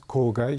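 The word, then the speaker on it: 郊外: Chine à l'époque mie ça c'est la prononciation japonaise kogai c'est le ça veut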